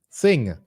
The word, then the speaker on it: Singh: December 6th jordian Masters how you pronounce SI I n g s s sing Jo jordian Master Singh